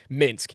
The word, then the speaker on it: Minsk: Minsk.